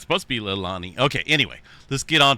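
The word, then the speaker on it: Leilani: oh that's right there's a correct way to pronounce that definitely not Lani or yeah it's supposed to be lilani okay anyway this get on past this here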